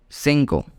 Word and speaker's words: cinco: pronounced with it's vowels okay so 4 is pronounced as cuatro now let's see five 5 is called Cinco and as we know earlier that I make